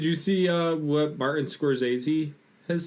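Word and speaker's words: Scorsese: twice um did you see uh what Martin soresi has said this past week did I pronounce that right soresi soressi soressi yeah uh he said Adam Driver is the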